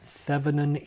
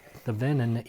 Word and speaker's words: Thevenin: All right, so this is the Thevenin equivalent, or the Thevenin equivalent, depending upon which syllable you put the emphasis on.